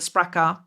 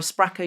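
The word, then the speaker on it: Sprakkar: It is currently on pre-order, and it is called Secrets of the Sprakar by Eliza Reid.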